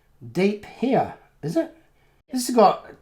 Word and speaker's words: De Pere: pere in Wisconsin PS de pair is pronounced deep here is that this is